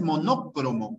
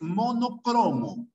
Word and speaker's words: monocromo: de la enfermedad es monocromo por si acaso no es monócromo es monocromo y a monocromo es una palabra grave ya si tu profe de historia dice cuadros monócromos No no es monódromo es monocromo ya es monocromo no monócromo como aparecen algunos lados bien Es monocromo lo mismo